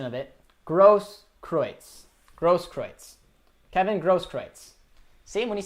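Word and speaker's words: Großkreutz: But we got a nice pronunciation of it. Grosskreutz.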